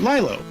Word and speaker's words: Lilo: The coincidence, Stitch, adopted by a little girl named Lilo. They lived together with a peaceful life. Then the female commander of interplanetary headquarters sent the strongest soldier caught Lilo away and threatened Stitch to surrender.